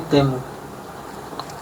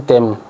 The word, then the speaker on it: Temu: Why are you saying TEMU? I just read the brief again that they sent me. It's actually TEMU. It's not TEMU. The pronunciation say TEMU.